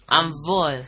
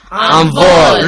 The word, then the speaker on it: envol: Envol. Répétez. Envol. Roderick, est-ce que tu peux épeler le mot envol? Can you spell it?